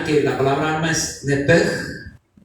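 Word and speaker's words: נפש: Comenzando de que la palabra alma en el original es la palabra nepej, o se escribe nepesh, se pronuncia en el hebreo nepej, que es el asiento de las emociones, de los sentimientos, en donde está la voluntad del ser humano.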